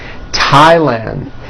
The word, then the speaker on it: Thailand: Although these next words and names are spelled with a TH, they are pronounced as if they were spelled with a normal T, like that. And these words are Thomas, Thompson, Teresa, Thailand, Thames, like the river, Esther, and thyme, which is a spice.